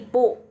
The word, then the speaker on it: bu: BU bukan bu bacanya ya, tapi pu. B menjadi P.